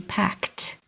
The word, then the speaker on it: packed: tense would be pack the past tense or it happened in the past would be packed and as you can hear that Ed is sounding like a t a voiceless t t so that's the